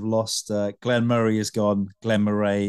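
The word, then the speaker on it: Glen Moray: Glenn Murray has gone Glenn Murray is the now go-to pronunciation unfortunately painful getting wrong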